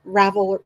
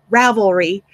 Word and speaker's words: Ravelry: put a group in Ravel Ravel I can always say that wrong Ravelry I have to look at how it's spelled to pronounce it correctly but I can make